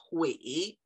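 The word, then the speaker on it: 悔: So in this case, this word is pronounced hui or hui, and the word, the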